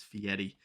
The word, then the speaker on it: Fieri: fieri uh he's actually i think the actual pronunciation is fieri um guy fieri he'll take you to flavor